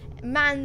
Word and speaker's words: MAN: Not M-A-N. I don't care what anybody says. I don't even care if man themselves says it's pronounced M-A-N. It's man. It's a man truck.